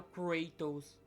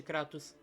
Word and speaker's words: Kratos: E sim, a pronúncia é Kratos mesmo, não cratos.